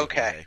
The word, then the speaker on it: Jorge: He's from Venezuela, so it would be Jorge. Okay. It's not the Brazilian pronunciation.